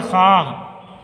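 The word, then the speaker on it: خواہ: पर कहीं खातिर ख्वाह टोपी ना पाई। खातिर ख्वाह, खवा लिखा जाता है लेकिन वाव की आवाज़ को साइलेंट कर देंगे।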